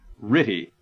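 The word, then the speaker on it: RTTY: A much more commonly used form of frequency shift keying is radio teletype or ritty as its RTY abbreviation is pronounced by its users.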